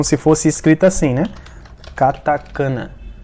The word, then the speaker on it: katakana: é dizer essa palavra é atacar na dizer katakana como se fosse escrito assim né katakana e não é kaká na ainda irá na